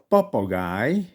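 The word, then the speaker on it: papagáj: For instance, in the case of papagai, parrot, or lokai, lackey. These are both words of German origin. So here the y sound is spelled with a J.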